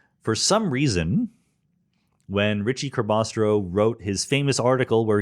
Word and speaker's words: Ricci-Curbastro: his first name, but his last name was Ricci Curbastro. Ricci-Curbastro. That was his last name. It was a compound name. For some reason, when Ricci Curbastro wrote his famous article where he explains how